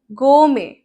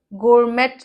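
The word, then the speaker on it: gourmet: गो में गोमेट नहीं होता। प्रोनंसिएशन प्लीज देख लो। गोमे ओके गोमे गोमे गोमेट नहीं गोमे गोमे क्या है?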